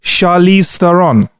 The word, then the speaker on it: Charlize Theron: Charlize Theron.